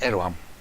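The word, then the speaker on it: Erdoğan: Incidentally, I'm assured that despite the D, the G, and the N in the English transliteration of his name, you pronounce Erdogan as Erdogan.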